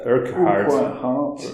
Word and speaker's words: Urquhart: Scottish flax merchant, John Stormont how do you pronounce that? Urquhart, yeah.